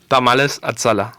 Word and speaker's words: Tamales Azala: and I'm here by the owners of you pronounce it tamales atala thank you very much so this is Jose